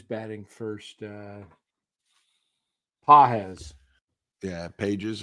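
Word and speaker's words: Pagés: first uh Paz yeah Pages or Paz pronounced pz looks like Pages if you were reading it for the first time um so I was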